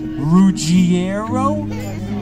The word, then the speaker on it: Ruggiero: a hint it's ruggiero when they try to really pronounce it right they go ruggiero is that right and they go yeah that's right that's not how i would say it but that is how it's has